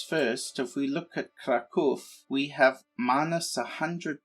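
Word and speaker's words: Kraków: left off we had captured krakow which is actually pronounced krakow i found that out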